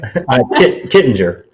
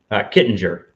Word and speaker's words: Kittinger: Kittinger. Kittinger. All right. Well, at least I didn't say I didn't butcher it. I almost I had the idea. The G is silent.